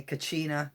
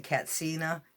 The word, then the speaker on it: katsina: a lot of times we used to say Kachina but it's really katsina because there's no CH in their language it's a you know a mispronunciation these were a fascinating